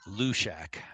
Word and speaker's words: Halushak: Then on Team C, we have Team Molding versus Team Halushak. I believe that's the right pronunciation. I believe they want to say Lushak. Lushak? The H Okay. is Lushak. The H is silent.